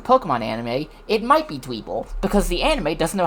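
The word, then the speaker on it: Dwebble: I mean it I call it dwble because I'm pretty sure that's how it's pronounced cuz you know it it's pebble.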